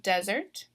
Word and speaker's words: desert: alright so we have desert desert so I'm stressing that first syllable um so it does follow that pattern where the first syllable is stressed and then also thinking